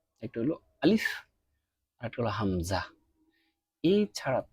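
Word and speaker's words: ألف: আলিফ, এর আগে একটা কথা বলে নেওয়া উচিত যে পুরো বর্ণমালাতে শুধু দুইটা হরফই আপনার একটু দ্রুত হবে। একটা হলো আলিফ আর একটা হলো হামজা।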